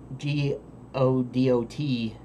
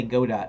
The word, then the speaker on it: Godot: So I'll pronounce G-O-D-O-T, Godot, if the majority of you say, no, it's pronounced GIF is the proper pronunciation. But if you say Jiff, and you've always said it Jiff, then I'm going to say Go-dott, because that's how I prefer to pronounce it.